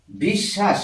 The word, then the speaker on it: বিশ্বাস: একটু বোঝার চেষ্টা করছি যদি লিখি বিশ্বাস এই বটা অন্তস্থ ব এর কোন উচ্চারণ হচ্ছে না আমরা এটাকে বলছি উচ্চারণ করছি এইটা উচ্চারণ এইটা উচ্চারণ করছি বিশ্বাস কিন্তু লিখছি এইটা তাহলে